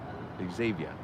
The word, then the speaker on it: Xavier: It's pronounced with a Z. Yeah, Xavier.